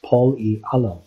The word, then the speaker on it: Pol-e Alam: We will be going through the countries alphabetically, starting with the small city we chose to highlight in this country is pronounced Pol-e Alam and is spelled many different ways in English.